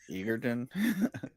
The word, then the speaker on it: Egerton: Egerton.